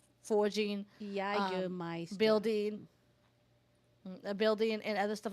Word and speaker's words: Jägermeister: So first off, Intu says it's pronounced Jägermeister. Jägermeister, and it's a bitter herb liquor.